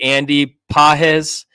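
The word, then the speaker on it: Andy Pages: able to cover that that ground uh rookie Andy pz uh you like how I pronounced it similar I think I got it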